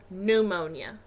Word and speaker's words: pneumonia: Um, sweetheart, the word you're looking for is pneumonia and the P is silent.